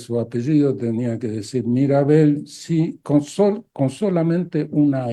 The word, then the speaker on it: Mirabel: se llaman mirabel en en Francia se llama mirabel se pronuncia como mi apellido y yo cuando trabajaba en Francia si alguien me preguntaba Cuál es su apellido tenía que decir mirabel si con solamente una